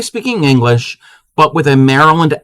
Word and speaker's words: Maryland: So, our first one is Merlin. Merlin. Anybody know what Merlin is? You sure about that? Supreme is a Marylander. Yes, that is Maryland. That is how we... no, not Merlin the magician. Maryland the state.